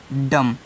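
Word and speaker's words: dumb: बी तो यहां पे बी आपका क्या रहेगा साइलेंट रहेगा तो डी य ए खाली बचेगा ए आपका हो जाएगा डम तो डी य एम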